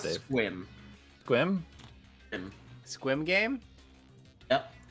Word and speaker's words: Sequim: It's not how you think it's pronounced. Sequim? Nope. Equal. Nope. Succumb. I mean, Squid. Of course, Not Dave. Squim.